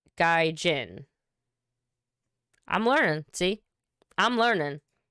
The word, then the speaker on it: gaijin: through my thick skull oh hard g guy jin i'm learning see i'm